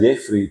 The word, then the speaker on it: Jafray: Enggak, sebenarnya tulisan Jafray itu bacanya sebenarnya Jeffrey.